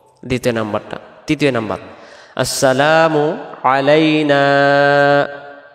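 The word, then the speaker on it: علينا: তৃতীয় নাম্বার আসসালামু আলাইনা এই যে নুন অক্ষরটা এক আলিফ আর আমরা তাড়াহুড়া করে যদি বলি আসসালামু আলাইনা না তখন এই জবরের পরে আলিফটা বাঁচাবে এই আলিফটা সহ আগে করতে হলে আসসালামু আলাইনা এক আলিফ ওয়া আলা আলিফ এই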